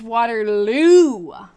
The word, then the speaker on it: Waterloo: say that too fast it's Waterloo so waterl like that oh I'm in um New England so I definitely pronounce it differently waterl waterl so it's waterl I'm never going to get that because that's just feels so um wrong to me but that's nice woo